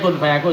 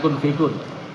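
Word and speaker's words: كن فيكون: Yang penting bacanya kun fayakun, jangan kun fikun.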